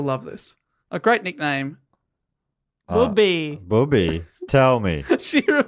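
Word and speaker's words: Bubi: And I'm like, William, Booby. Booby. So Philipson is her booby. How's that spelt? B-U-B-I. Booby. Booby. I'm assuming that's how you'd spell it, right? Yeah. It's not Bubby. No. Booby.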